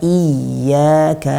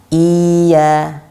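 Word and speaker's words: إِيَّاكَ: merubah makna begitu ya ceritanya kan bacanya Iya kita tidak tasdid kan Atau malah kita panjangkan ia Nah itu tidak tepat karena dia tasjid bukan bukan matte artinya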